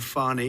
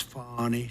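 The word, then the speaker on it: Fani: treated you very unfairly she go by the name of fonnie even though it's F A ni I she wants to pronounce fonnie she's little little French little French accent and her lover and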